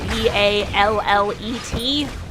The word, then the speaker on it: ballet: Or like, ballet is spelled B-A-L-L-E-T, despite being pronounced still hasn't responded ballet.